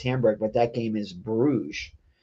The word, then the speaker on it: Bruges: It's reprinted as Hamburg, but that game is Bruges.